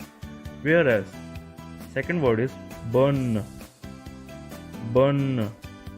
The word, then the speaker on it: bon: So here comes the first word, that is bon. Bon. Here n is a nasal sound and it's used for singular and for masculine. Whereas second word is bonne. Bonne.